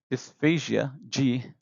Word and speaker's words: dysphagia: So dysphagia refers to, uh, sorry, dysphagia, G, refers to uh, not being able to swallow.